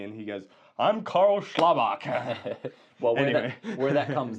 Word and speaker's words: Schlabach: And it's like it's easier to say Slaybal, but Schlabok is the correct pronunciation, but then often people ask, "Hey, how do you spell that?"